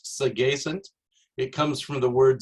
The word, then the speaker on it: Sagacent: little bit about me the company is actually pronounced segacen it comes from the word sagacious which means